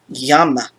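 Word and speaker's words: llama: this book we use the sound like the english y in the word yes which is how aya is pronounced in 18 of the 20 spanish-speaking countries in the pronunciation brackets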